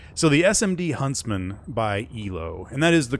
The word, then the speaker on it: yloh: that's good the so the SMD Huntsman by ELO and that is the correct way to pronounce it right that is correct actually a